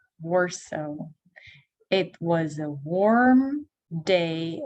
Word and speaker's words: Warsaw: If you know that city, если вам знаком этот город, мы говорим его Warsaw. Warsaw.